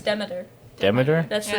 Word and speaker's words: Demeter: But yeah, like Dracula's The on Demeter. a Movie? That was Or it. Demeter. Yeah, Yeah. Demeter. yeah, something Demeter? like that. No, it's Demeter. Demeter? That's the Yeah. name of The the ship. Dementor?